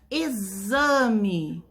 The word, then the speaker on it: exame: Quando a gente fala a palavra exemplo ou a palavra exame, essas palavras são escritas com X. Mas o som que a gente pronuncia quando a gente fala é de Z.